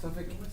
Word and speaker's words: Suffolk: Suffolk is how you pronounce it. Suffolk, England.